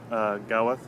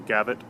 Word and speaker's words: Gawith: and gavotte when the the W is pronounced with a V is a voiced labiodental